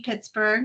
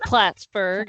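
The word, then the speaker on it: Plattsburgh: Um has a BA from Sunni Pittsburgh. I think that's how you say it. I'm It's Platsburg.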